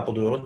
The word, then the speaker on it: Apeldoorn: How do you pronounce that? Apeldoorn? Yeah, Apeldoorn.